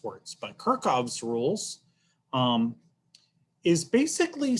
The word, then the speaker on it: Kirchhoff's: of weird things but i've always heard this pronounced kirchhoff's rules and um goodness you